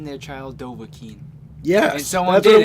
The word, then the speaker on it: Dovahkiin: How do you pronounce this? It's Dovahkiin.